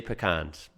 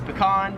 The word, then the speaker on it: pecan: Me and most Americans would pronounce this as pecan.